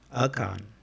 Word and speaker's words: Akan: So it's pronounced Akan. Okay. Akan is a central Tano language and the principal